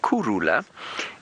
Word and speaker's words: Kurhula: Anyway, if you were to pronounce the word Kurhula, it's a very subtle, which is spelled K-U-R, Kuru, K-U-R-H-U-L-A, Kurhula. And the H is almost completely silent.